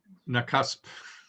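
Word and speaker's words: Nakusp: knock-ups how do you say it it's it's nakasp mccusk okay thank you bc and he is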